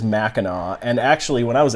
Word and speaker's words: Mackinac: Mackinac? So many beer reviewers, so many beer reviewers I've seen on YouTube pronounce it Mackinac, but it is Mackinac.